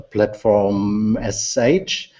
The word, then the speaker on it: platform.sh: will talk about a platform sh is sh the right way to pronounce it sure think about it like a shell script right so platform.sh all